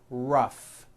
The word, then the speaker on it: rough: and the last word rough notice the gh combination and that word rough let's work on this